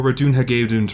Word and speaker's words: Ratonhnhaké:ton: She pronounces Ratohnhaké's name as Ratohnhaké, rise, we must go.